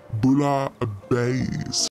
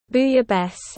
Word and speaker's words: bouillabaisse: How do you pronounce that bouillabaisse? Bouillabaisse. Booyah best.